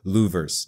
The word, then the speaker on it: louvers: with Hendrick Motorsports in the hood louvers not lovers louvers I know someone pointed